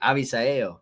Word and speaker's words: Avisail: Avisail.